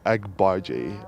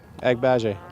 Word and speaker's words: Agbaje: just stick to Timmy I think azerbaiji is what uh is uh is the way we pronounce it and uh I'm sure it's probably a little bit different than that it's it's agbaji AG then baje agbaje with the sack is